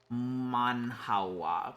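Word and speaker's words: manhwa: Manhawa, pronounced like man. Hua. Basically Korean manga.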